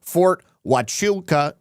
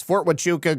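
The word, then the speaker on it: Fort Huachuca: you to know the base in Arizona is pronounced Fort Wuka." Yes, Fort Wuka. Great shows all week. Love you and appreciate, Lisa. You're not a jerk. I I know that I don't pronounce it correctly. Fort Wuka.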